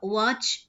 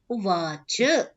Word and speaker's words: उवाच: कि उसम हम जैसे हिंदी की तरह हिंदी में हमारा दोष होता है कि हम राम आधा आधा बोल रहे होते हैं श्याम तो वैसा संस्कृत में उच्चारण नहीं चलता उवाच ऐसा नहीं चलता उवाच जब बोलेंगे तभी वो स्वीकार किया जाता है कि आपने पूर्ण एक